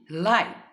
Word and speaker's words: live: live. When this word functions as an adjective, pronunciation will be live.